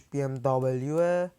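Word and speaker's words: BMW: میگم بی ام دبلیو در واقع تلفظ درستش بی ام دبلیو بی ام دبلیو بی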